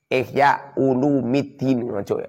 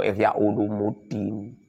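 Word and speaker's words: إحياء علوم الدين: kitab fi ihya'i ulumiddini ihya ulumiddin ojo ihya ulumuddin salah itu long ihya ulumuddin ihya'u itu mudhof ulumi itu mudhof ilaih dibaca rafa pernah bacir bacanya itu ihya ulumiddin fi ihya'i ulumiddini dalam menghidupkan beberapa ilmu agama.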